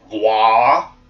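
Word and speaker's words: Waaagh: Insofern behaupten wir jetzt mal, Wurzak war mit einem War, also das heißt nicht Wag, es heißt War, also War, wie War ausgesprochen, Krieg, heißt wahrscheinlich auch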